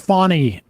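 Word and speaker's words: Fani: Name is pronounced Fawny Willis.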